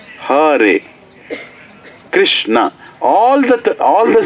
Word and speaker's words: Hare: It's not Hare. Hare.